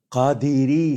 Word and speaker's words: قادری: کا طریقہ بتا دیجیے۔ قادری سلسلہ، ہمارے ہاں لوگ انگلش میں لکھتے ہیں QADRI، قدری بنتا ہے، قادری، دال کے نیچے بھی زیر ہے، تو اگر اسپیلنگ کرنی ہے تو QAADIRI، قادری۔ اسی طرح صابری، لوگ